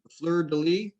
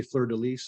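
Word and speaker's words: fleur-de-lis: Fleur De Lis is French for the lily flower. Yeah. Did I pronounce that right? I usually say Fleur De Lis.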